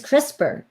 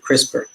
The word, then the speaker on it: CRISPR: get on with it what the heck is crisper which is spelled CR is P R what does it